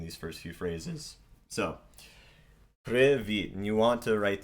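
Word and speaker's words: привіт: So if you pronounced it privit, so privit, and you could use that for these different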